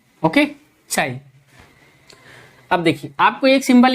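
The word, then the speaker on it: chi: चाई। ओके, चाई।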